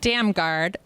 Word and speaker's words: Damgaard: So, we'll have beer and wine and we'll have music by Scott How am I pronouncing his last name? Damgaard. Damgaard.